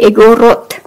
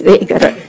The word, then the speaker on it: Igorot: "Yes, yes, Igorot." Let me get this clear. In Ilocano, when the Ilocano says Igorot with the emphasis on the first word, it's bad.